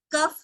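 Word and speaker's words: cough: इसे क्या पढ़ते हैं, कफ हो गया है, हम बोलते हैं कफ हो गया, लेकिन जो खांसी को इसे कफ नहीं पढ़ते, इसका प्रोनाउंसिएशन है कॉफ.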